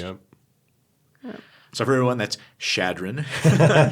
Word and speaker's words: Chadron: So for everyone, that's Chadron. Chadron.